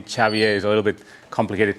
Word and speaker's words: Xavier: originally from Barcelona Spain that's why my name chavier is a little bit complicated to uh pronounce and I did my PhD interestingly uh